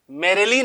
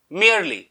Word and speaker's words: merely: कर सीखते हैं गाइस ये मेयर प्रोनाउंस करते हैं मतलब य मेरेली नहीं है ये ये मेयर मेयर ऐसे आप प्रोनाउंस करेंगे इसे अब मरली